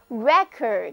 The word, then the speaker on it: record: 如果我们把重音挪到第一个音节，单词读作 record，这时候它变成了一个名词。